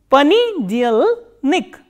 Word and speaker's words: понедельник: P, O, N, ye, D, ye, L, soft sign, and N, E, K, and stress is on ye. Понедельник.